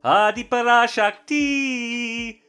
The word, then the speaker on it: Adi Parashakti: one supreme goddess, called Adi Parashakti. Although, according to a Tamil movie I once saw, it's pronounced Adi Parashakti.